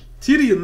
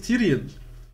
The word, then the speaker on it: Tyrion: Yani bir karakterin telaffuzunu öğrenmek bu kadar zor olamaz ya. Tyrion namına koyayım ya. Tyrion reis, Tyrion. Daenerys.